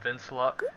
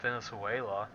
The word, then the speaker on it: Venansula: He's like, it's pronounced Vincula, not Venezuela.